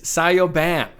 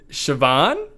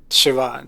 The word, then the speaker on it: Siobhan: And the name is Sioban. But really, no, no. You pronounce it Siobhan. Siobhan. Siobhan. It's a So, it's like a kind of an Irish name.